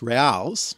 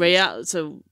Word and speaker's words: real: Well, they refer to an actual Spanish coin that was commonly used at the time that was worth eight, I guess it's pronounced reals, which is royals, mm-hmm.